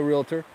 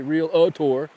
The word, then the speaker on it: realtor: Proud to be a realtor. Real tour. I said it right. I didn't say real a tour. I said realtor.